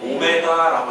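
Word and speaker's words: ω: 근데 읽을 때는 W가 아니고 오메가라고 읽는다.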